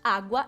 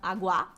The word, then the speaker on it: agua: Então, todas as vezes que você vai usar essa palavra água, que começa com A e a primeira sílaba é a mais forte, água e não agua, você precisa usar o artigo masculino, el agua ou un agua.